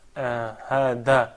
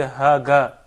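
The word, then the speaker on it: هذا: I think when you pronounce hada, I mean hada could be, at least you can say it sounds as a word. When you say haga, I mean this is just totally not a word in Arabic.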